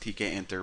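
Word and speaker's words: Tkinter: I'm gonna call it kinter I know it's pronounced TK enter but whatever I'm gonna shut up now and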